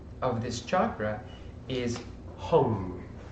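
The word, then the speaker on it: Ham: of this chakra is home it is spelled H AM but it is pronounced like like I hung my jacket okay so basically then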